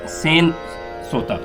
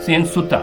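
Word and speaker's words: सेनसुता: सेन सोता, मैंने प्रोनाउंस सही किया? सेन सुता। सेन सुता। जी। सॉरी, सेन सुता।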